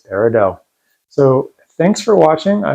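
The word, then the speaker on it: peridot: of wisdom remember parido the te is silent it's not paradot it's parido so thanks for watching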